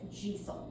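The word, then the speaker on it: deiseal: also from Scots Gaelic a D and an E make a J sound. That's why it's gel right.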